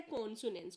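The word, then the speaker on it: consonance: इसी तरह दूसरा है कॉन्सोनेंस। कॉन्सोनेंस होता है जब कोई भी कॉन्सोनेंट की साउंड रिपीट होती है तो उसको बोलते हैं कॉन्सोनेंस। ये कॉन्सोनेंसीज नहीं है, कॉन्सोनेंस कर लीजिए इसको।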